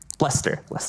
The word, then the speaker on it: Leicester: because I made a pact with someone, from Leicester, England. You can say it correctly. Leicester, England.